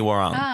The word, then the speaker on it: Warung: Sydney Warung. Warung. Is the pronunciation of that.